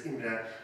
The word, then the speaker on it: Imre: is of German origin so I'm going to pronounced as imra Z but the Hungarian pronunciation could be I've